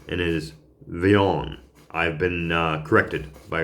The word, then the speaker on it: Villon: was uh about Francois Leon but I was pronouncing it the lawn and it is veon I've been uh corrected by a very good